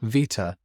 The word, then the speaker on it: beta: Beta particles are just fast electrons. They have a charge of -1, and their symbol is the Greek letter veta. This is pronounced beta in English or American.